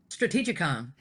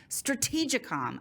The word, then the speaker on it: StrategITcom: that I absolutely butchered strategicon strategic com I should have known that just like it's spelled but it doesn't look